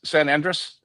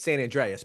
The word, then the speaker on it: San Andreas: That's so does Grand Theft Auto that has San Andress San Andre? That's actually with the A. It's San Andreas.